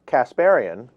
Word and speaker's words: Kasparian: Anna Kasparian, is that I pronounce your last name correct?